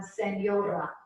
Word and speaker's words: señora: It has the NY sound on senora.